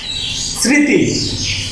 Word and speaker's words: স্মৃতি: তাহলে এরকম ভাবে এটার উচ্চারণটা স্মৃতি। এখানে ময়ের উচ্চারণটা সাইলেন্ট।